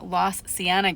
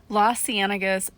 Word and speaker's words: Las Cienegas: spot over here and lost siena guess i know how to pronounce it now i looked it up los cienegas national conservation area and how it was this